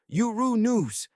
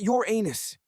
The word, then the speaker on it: Uranus: It turns out we've been mispronouncing Uranus all this time. Astronomers insist that the correct pronunciation is Uru-News, not your anus. A subtle shift in stress, but it makes all the difference.